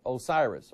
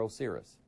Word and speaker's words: Osiris: bird is associated with Osiris or Osiris and how you want to pronounce it don't forget that just